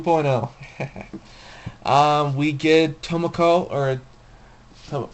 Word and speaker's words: tokamak: new firestorm two point oh okay we get tomiko or so how do you pronounce that it is to the tokamak there we go tokamak sorry if I pronounced